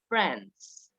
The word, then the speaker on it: friends: gente rennes recuerden que no se pronuncia la y si no la es solamente friends por eduardo a lola